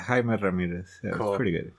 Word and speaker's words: Jaime Ramirez: are listening uh i'm sitting here with uh jaime ramirez is that how you pronounce it yeah jaime ramirez all right i'm glad um because i remember